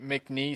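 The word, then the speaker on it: McNeese: Um, MCI State, MCN State. How do you say that? MCN. There's no there's no E on the end. I mean, there is, but don't sound it up.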